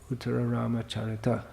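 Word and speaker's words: Uttararamacharita: No, it's not from Raghuvangsha, it's from Uttaram Charit, some work. Oh, I'm not sure who it's by. Uttaram Charit. Uttara Rama Charita, if you want to say all the Sanskrit syllables.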